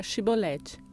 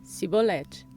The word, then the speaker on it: Shibolete: E se ele dissesse: Não, disseram-lhe então: Diz agora Shibolete. E ele disse: Sibolete. Pois ele não conseguia formular uma pronúncia correta.